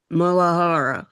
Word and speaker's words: muladhara: Malada. Maladar. Is that how you say it, Karen? Would you say muladhara? Mulahara.